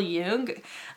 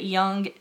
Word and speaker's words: Jung: And if you want to learn more about why I'm saying that, go ahead and look up Carl Jung. Some people pronounce it Jung.